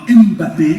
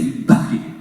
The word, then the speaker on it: Mbappé: C'est pas Mbappé, c'est Mbappé.